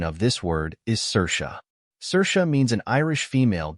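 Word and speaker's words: Saoirse: as s a o i RS the correct pronunciation of this word is cersa cersa means an Irish female given name meaning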